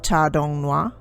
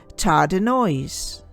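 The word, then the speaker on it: Tardenoisian: BC to 7500 BC for the purpose of this video I will be using the english pronunciation of tar dong hua that is tar denoise before the Meisel ethic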